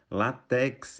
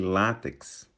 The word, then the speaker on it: látex: em vez de gratuito latex em vez de látex nóbel prêmio Nobel em